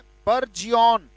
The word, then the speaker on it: burgeon: when trees prognosticate spring, they burgeon, BURGEON, उच्चारण क्या है, बर्जियन।